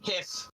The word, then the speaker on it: GIF: maintain that it's pronounced hiff thank wait say it again did you say hiff like whiff and stiff like um the breath